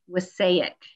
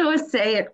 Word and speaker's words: Wassaic: Bowie Barnett Zunino is a founder and co-executive director of the Wasaic. Oh, did I say it right? Okay, good. The Wasaic Project.